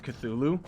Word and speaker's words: Cthulhu: How do you, well, Cthulhu itself, Jan, that's how you pronounce Cthulhu.